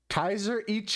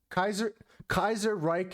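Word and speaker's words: Kaiserreich: I'm gonna struggle to pronounce this name, but I'm gonna try my best. Kaiser Ich Enjoyer. Kaiser Reich Enjoyer.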